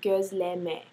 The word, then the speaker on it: Gözleme: love so much, Gozleme, it's actually pronounced Gozleme. Gozleme. It's a Turkish food, and I am a